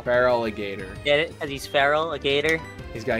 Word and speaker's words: Feraligator: pronounce that freaking name feraligator that's the one if you look at it the first part of his name is feral feraligator cuz he's feraligator he's